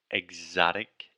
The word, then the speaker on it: exotic: Okay, so two times Alexia mispronounced the word exotic. Exotic. So she was saying exotic, but imagine you were saying exotic, like you were saying the word egg almost, like ovu, and then zotic.